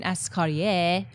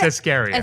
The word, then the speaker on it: Escarier: That's not the way you pronounce my name, but you know it's close enough. We talked about this before the show. You wanted her to say with it's like Escaria. a... It's Escaria. Escaria.